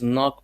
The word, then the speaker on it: knock: Please knock before you enter. K. Silent K.